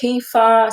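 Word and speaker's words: kefir: make some other things um I think you pronounce it kefa so you know they had all these added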